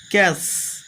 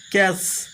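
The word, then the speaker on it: catch: যেমন সি এটি সি এইস ক্যাস ক্যাস টির উচ্চারণ হলো না।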